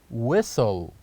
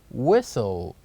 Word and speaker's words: whistle: and H which is whistle whistle say after me whistle and here's also the word whistle that starts with wh but the H is silent we say whistle and